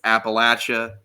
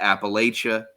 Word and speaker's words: Appalachia: And that's how you say it too, by the way. That's how you say it. If JD was here, he would say it's Appalachia. It's not Appalachia. Because we'll throw an apple at you if you say it wrong.